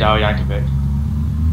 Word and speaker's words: Yankovic: cuz look at weird y uh Yankovic we Yankovic that actually how you pronounce it yeah oh so no one actually